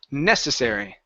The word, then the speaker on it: necessary: let's go to UM the word necessary stress is here at the beginning dad Adam necessary necessary necessary no yeah